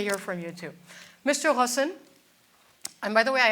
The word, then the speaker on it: Ghosn: I say Ghosn or should I say Ghosn, or what do you prefer? Well, it depends what's your origin. My origin is Syrian. So you yes, can pronounce Ghosn. Okay. But it's very complicated for somebody who's not of Arab origin. That's correct. So that's why. So we'll say Ghosn.